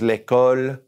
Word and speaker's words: l'école: Let's just pronounce them one more time. Say these after me. The school is l'école.